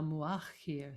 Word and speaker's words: Mu'akhkhir: So we'll repeat Ya Muqaddim Ya Mu'akhkhir. So the stress is in the middle syllable each time.